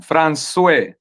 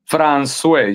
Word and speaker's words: François: François. Francois. François.